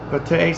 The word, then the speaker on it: Pate: Trustin Patty says, Pate says, Trustin Pate, I would pronounce it like that. I say Patty, but it's not Patty, Pate.